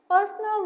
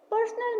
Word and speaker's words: personal: Pair number 14 is personal versus personnel, which has a completely different pronunciation and stress. Personal means private or individual. Stress the first part.